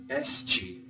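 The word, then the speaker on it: este: A and you say SG it ends with a te and the te in Portuguese is a CH sound change that to and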